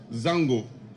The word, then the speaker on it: Zongo: began to settle permanently these House of committees became what we know as zungo today but the actual pronunciation is Zango since the entry of